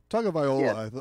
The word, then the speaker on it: Tagovailoa: But if you really look late in the year pronounce his name for me. I just go Tua. Tagovailoa, I believe, but I just say Tua.